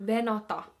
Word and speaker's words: venata: Venata.